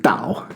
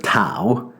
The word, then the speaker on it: Tao: So anyway, you want to make sure you pronounce it Dao instead of Tao.